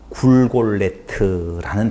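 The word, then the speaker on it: גולגולת: 그럼 골가타, 골골타에서 골고다가 히브리 말이 나오게 되어지는데 그 히브리어 골고다라고 하는 진짜 발음은 사전에 보면 굴골레트라는 단어예요.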